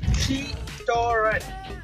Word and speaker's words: Citroën: It is written and everybody pronounces it as Citroën, but you should never say it as Citroën. It is Citroën.